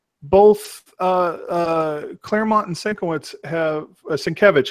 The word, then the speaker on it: Sienkiewicz: Claremont and Sienkiewicz have Sienkiewicz. Excuse me, I've said his name wrong for so long. I still have trouble.